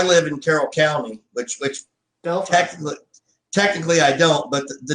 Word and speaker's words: Delphi: Carroll County, which is Delphi, Indiana, or if you were to pronounce it correctly, Delphi. That's how far behind we are. We pronounce it Delphi instead of Delphi.